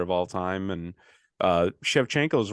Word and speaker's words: Shevchenko: Valentina you're doing great no chefchenko you were here chefchenko I won't mess it up again chefchenko you got it once um so Valentina shevchenko